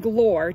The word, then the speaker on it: Glor: it's okay to use the name Glor to rhyme with drawer because she says Glore